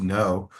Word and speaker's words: Knopf: The original German, because Knopf means button, does angrily spit out every single letter for Knopf.